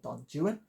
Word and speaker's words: Don Juan: drama it is molier Don Juan or Don Jan as I believe it's permissible to pronounce the interminable Byron poem of the same name so maybe appliable here